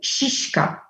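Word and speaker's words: šiška: or I don't know, NOP, SISKA, shishka. What is very difficult to pronounce is kres.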